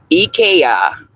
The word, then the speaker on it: IKEA: Ekaya. That's how they pronounce it in Sweden. You say I? Yes. IKEA.